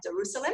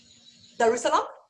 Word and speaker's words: Darussalam: And then he left Singapore in 2007, and until now, he's been at the University of Brunei Darussalam. I hope I've said that okay. Probably not. Darussalam?